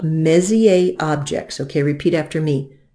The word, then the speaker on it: Messier: things that are called Messier objects okay repeat after me Messier Messier now this is named for a fellow named Charles Messier the the are the last consonant often in French is not pronounced he was a comet